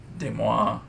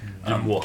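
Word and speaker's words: Demoux: But what Sanderson said on his kind of annotations of the chapters, originally he had Kelsier through Demois, that's how you say his name, Demois.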